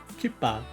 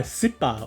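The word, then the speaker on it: cipa: It's spelled C-I-P-A. C-I-P-A. Kipa. Yeah, Sipa or Kipa.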